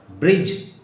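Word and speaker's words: bridge: ब्रिज, BRIDG, ब्रिज. ब्रिज mean पुल. अब ब्रिज, यहां पर डी नहीं बोलना है, ब्रिज बोलना है. BRIGE, डी नहीं बोलना है. लिखा जाएगा, बोला नहीं जाएगा.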